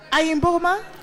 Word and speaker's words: Ayimboma: Ayimboma? Yes. Is that your name? Is that how to pronounce it? Yes.